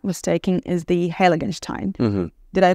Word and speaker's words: Heiligenstein: Your top vineyard, I think, for Riesling, if I'm not mistaken, is the Heiligenstein. Mm-hmm. Did I pronounce it correctly? Yes, Heiligenstein.